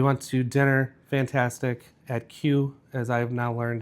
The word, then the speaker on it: KYU: At Q, as I've now learned it's pronounced because that's what it says on the menu. I've been calling it Caillou for We tried to make it so much fancier.